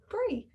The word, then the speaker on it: Bri: I always say my name is Bree like the cheese, but it's not, because it's spelled B-R-I without the E.